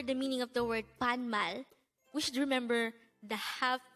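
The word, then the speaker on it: 반말: at the beginning of the video this is pronounced as panmal and if you notice the second syllable of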